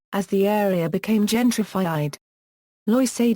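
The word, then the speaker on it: Loisaida: the area became gentrified Loa is a term derived from the Latino and especially yoran pronunciation of Lower East Side the term was originally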